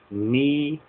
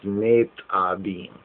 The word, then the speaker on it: Nitzabim: And in the Hebrew, it is known as NITZABIM, or some may pronounce as NITZABIM.